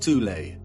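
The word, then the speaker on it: Thule: called the th Society sometimes alternatively pronounced tulle that had subactions within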